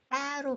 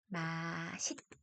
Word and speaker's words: 맛있다: 자, 선생님이 이게 맛있다라는 표현을 썼는데 사실은 맛있다라고 해서 맛있다로 발음하는 것이 표준 발음인데요. 이거를 많은 사람들이 맛있다로 표현하는 경우가 많아서 이 두 가지 발음 모두 인정을 해줍니다.